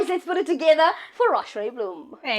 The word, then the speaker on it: Roch-Lé Bloem: and may guys let's put it together for Rashray Bloom.